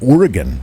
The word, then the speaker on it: Oregon: And last but not least, our friends out there in Oregon, as they say it, Oregon, G-U-N.